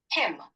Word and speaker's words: hymn: ഹൈമൻ എന്നല്ല, ഹിം എന്നാണ് വായിക്കേണ്ടത്. എന്താണ്? ഹിം. ഇനി വായിച്ചു നോക്കൂ, ഹിം. നേരത്തെ പറഞ്ഞത് ഹൈമൻ എന്ന് തന്നെയായിരുന്നു. ഇതെന്താണ് വായിക്കേണ്ടത്? ഹിം എന്നാണ്. Okay, him. സംശയം ഉണ്ടെങ്കിൽ നിങ്ങൾക്ക് കേൾക്കാവുന്നതാണ്. ഇതിന്റെ ഉച്ചാരണം കേട്ടോളൂ. Him.